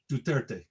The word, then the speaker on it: Duterte: and the victim and their short name for his for his name is 230 which when you pronounce it is duterte so on newspaper headlines